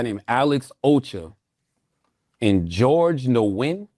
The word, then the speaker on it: Nguyen: McCoy, another guy named Alex Ocha, and George Nguyen. How you pronounce it, Chris? It's a Vietnamese name. Nguyen.